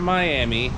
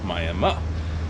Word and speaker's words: Miami: am in miami oklahoma not miami it is spelled like as we all know miami florida but over here it's called miami so i am i'm